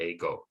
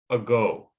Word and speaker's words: ago: don't say this word ago they put stress on the second syllable and so the first